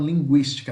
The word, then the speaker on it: linguística: Essa palavra aqui antes tinha trema, tá? Pronuncia do mesmo jeito como se tivesse trema, tá? Então, linguística, não linguista, tá?